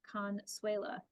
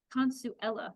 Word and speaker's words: Consuela: person Consuela Carter was, I began pronouncing the band director's name Consuela. Consuella, Moon said, correcting me. Consuela, I repeated.